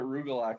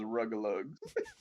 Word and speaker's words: Rugelach: then there was Rugelach, and this guy would come in and he would get Rugelach every week, and he's just like, let me get a few of those Rugelugs.